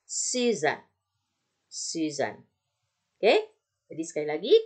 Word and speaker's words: Suzanne: Nah, bagaimana kalau S-nya sendirian tapi dia di depan, nggak di tengah-tengah? Dia tetap terbaca sebagai S. Contoh, misalnya Suzanne, jadi bukan Zuzan, susah ya. Oke, bukan Zuzan, nggak enak juga. Nah, tapi Suzanne.